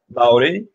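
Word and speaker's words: Māori: You're from Maori tribe, right? Did I pronounce that right? Maori, very good.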